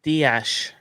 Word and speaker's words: Dias: i think so because you can't say diash and then in the next sentence bernardo it's dias and bernardo bernardo or it's diaz and bernardo it's ceos and bernie